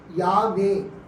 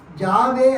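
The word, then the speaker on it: Yahweh: அந்த ஜெகோவாவுக்கு எபிரேய மொழியில் யாவே, YHWH. அது ஜெர்மன் மொழியில் ஜாவே அப்படின்னு அவங்க ப்ரொனவுன்ஸ் பண்ணாங்க. ஸோ ஜெர்மன் மொழியில் ஜாவே அப்படின்னு ப்ரொனவுன்ஸ் பண்ணதுனால அங்கேயும் ஜே ஃபர்ஸ்ட் லெட்டர்.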